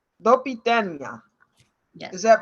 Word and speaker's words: Do widzenia: Do widzenia. Do widzenia.